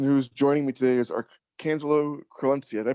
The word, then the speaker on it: Archangelo Crelencia: The person who's joining me today is Archangelo Crelencia. Did I pronounce that right?